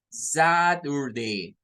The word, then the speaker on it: Saturday: La primera sílaba es desde la letra S hacia la letra T. Es como decir that. Miren, that. Luego la UR nos forma otra sílaba, pero miren que esa U se convierte en un schwa. That or, that or.